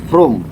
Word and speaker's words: Vrooam: oli ini tuh dari room ya karena dibacanya from walaupun tulisannya VR ya tapi dibacanya itu Chrome ini menurut filosofinya dia itu diambil merek ini tuh seperti terdengar suara dari knalpot gitu jadi kayak gitu Jadi